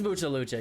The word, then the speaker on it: Mucha Lucha: word in Spanish but I always thought it was much it is Mucha lucha you're wrong doc you're wrong dog it's Mucha lucha can't spell it right